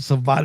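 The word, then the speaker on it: savate: The super kick is a savvat kick. Like the actual pronunciation of that kick. But yeah, they don't even mention savvat anymore.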